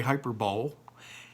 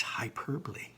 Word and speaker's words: hyperbole: pop onomatopoeia can finally for today try to pronounce that word most of you will say hyperbole it isn't it's hyperbole students use hyperbole a lot kids use hyperbole